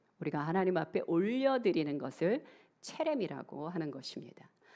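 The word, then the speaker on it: חרם: 온전히 바친 물건에서 이 바친이 히브리어로 체렘이라고 합니다. 다른 발음으로 헤렘이라고도 하는데요, 이 체렘은 하나님께 바침받은 것으로 사람이 아닌 하나님의 것이다 라는 뜻이에요.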